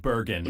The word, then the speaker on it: Bergen: This is the city of Bergen in Norway. Apparently, it's pronounced more like Oh, Bergen heaven. in Norwegian, but I'm not going to try to Bergen. say it that way.